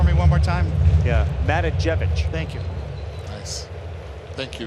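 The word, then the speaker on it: Matijevic: Yeah, Matajevic.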